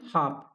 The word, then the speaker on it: half: इसको क्या पढ़ते हैं, हाफ। स्पेलिंग क्या है इसकी, HALF। पढ़ क्या रहे हैं इसको, हाफ पढ़ रहे हैं। जो इसमें एल है उसको तो पढ़ ही नहीं रहे, है ना।